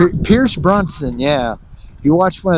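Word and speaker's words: Pierce Brosnan: If you watched one of the how do you pronounce his name? Pierce Bronson, yeah.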